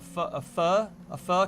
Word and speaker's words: pho: You invested in like a pho company? PHO? I'm pronouncing it in the proper Vietnamese.